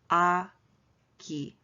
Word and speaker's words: 아기: And the last word is baby, it's pronounced 아기, 아기, 아기.